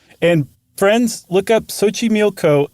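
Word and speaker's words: Xochimilco: It's Lake Sochi Milco. And friends, look up Sochi Milco. It is not in any way, shape, or form, as far as an English speaker is concerned, spelled like it's pronounced.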